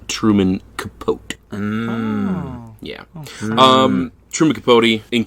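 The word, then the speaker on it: Capote: Truman from the show I believe it's pronounced Truman capot yeah um trumic capot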